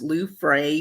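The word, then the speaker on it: Luefras: is it french no it's not french the s is silent um i tell people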